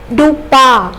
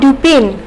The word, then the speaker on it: Dupin: is a french name it should be pronounced as dupa not dupin okay peer to pins